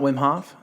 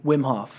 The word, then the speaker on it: Wim Hof: Is it not Wim Hof?